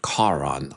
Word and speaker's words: Karaan: Um, but he pronounces it Kon.